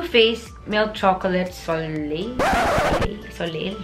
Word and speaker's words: Soleil: that and freaking stupid I'm really searching how you pronounce so late cuz I don't want to sound stupid in front of you Soleil okay so I was right okay let's continue the